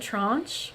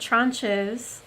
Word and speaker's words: tranche: to pronounce this word, there is a French way, because I mean it does come from French. And so I believe they pronounce it tranche, I believe.